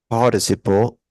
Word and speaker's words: participle: It's not participle, it's participle. Participle. Participle. Okay, can you repeat that? Participle. Great. So the stress is in the first word, the first two letters.